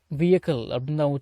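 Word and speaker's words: vehicle: VECHICLE வெஹிக்கிள் அப்படின்னு தான் உச்சரிக்கணும்.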